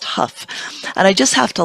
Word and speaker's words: Hough: It's spelled Hough, but I asked my friend Colin, who lives in England, how to pronounce it, and he checked actually. He called somebody in the area and found out that it was pronounced Huff.